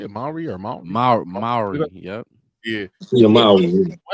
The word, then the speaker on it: Mowry: Mowry, yep.